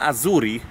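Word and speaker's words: Hazoury: I mimo tego, że rodzina Azuri, w hiszpańskim H jest nie ma, o nich pisze się Hazuri, jest pochodzenia libańskiego, ale to jest któreś pokolenie i to są normalnie Dominikańczycy.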